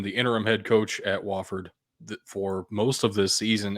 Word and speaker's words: Wofford: Next up is Wofford, is how the president of Wofford pronounced it in the press conference today. I've always called it Wooford, but Wofford apparently has hired a I new head wonder coach.